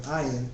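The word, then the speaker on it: ע: While aleph is indeed silent, the consonant ayin does have some phonetic value. For English speakers, however, the pronunciation of ayin is so subtly nuanced, for all practical purposes, we are considering it too as silent.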